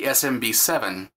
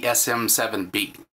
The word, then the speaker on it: SM7B: said the name wrong it's not the smb7 it's the sm7b I am still very